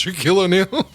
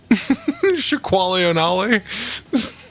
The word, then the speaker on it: Shaquille O'Neal: That meme every now and then resurfaces of the dude not knowing how to pronounce Shaquille O'Neal. Shaquale O'Nally.